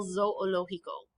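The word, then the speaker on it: zoológico: think like zoological and you do have to pronounce both of those o's so it's a little awkward el zou olohiko if you can't figure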